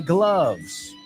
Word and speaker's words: gloves: Bueno, cuidado, hay mucha gente que lo pronuncia gloves. No es gloves. ¿Cómo se dice amor? Love, ¿no? Pues igual. Vamos a decir esta frase. I love my gloves.